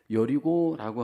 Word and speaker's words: 여리고: 여리고라고 하는 지역은 한국식 발음이고, 미국에서는 우리가 살고 있는 이 사이어스 근처의 제리코, 이것이 바로 여리고입니다.